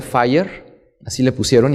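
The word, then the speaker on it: FHIR: bajito que se llama se pronuncia fire así le pusieron y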